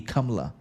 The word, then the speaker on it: Kamala: the pronunciation would actually the correct pronunciation in India would actually be kamla so neither is Trump